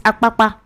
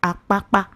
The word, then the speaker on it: Apapa: It's apapa.